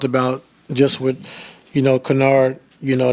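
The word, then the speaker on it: Kennard: I know, um, you know, um, we talked about just with, you know, Canard, you know, not, you know, not letting him get get off three-wise and that's how you say his name.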